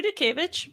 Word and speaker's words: Dutkiewicz: yourself please uh so my name is dukeevich but i go in the community of